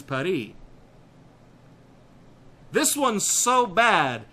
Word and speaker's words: Paris: where it says Paris they specify that you have to use the French pronunciation which is py this one's so bad